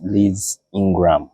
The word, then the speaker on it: Ingram: We are here at Mbale Resort, and we are discussing about Mbale with our guest, Liz INGRAM. Yes. Is it the right way of pronouncing it?